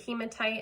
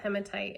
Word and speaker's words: hematite: these hematite bracelets and some people do pronounce it hematite I think because it sounds like hemoglobin I was taught hematite and I'm just gonna